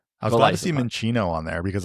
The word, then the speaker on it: Minccino: I was glad to see Minccino on there because I see a lot of people call it Mincino, and it's like, no, it's based off of Chinchilla, right? So Minccino.